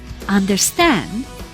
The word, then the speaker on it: understand: We say understand and not understand, for example.